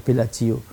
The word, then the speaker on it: Bellagio: punya tempat di Italia namanya Belagio atau Bellagio kita bilangnya ya Film bacanya Belagio Nah itu orang-orang hebat di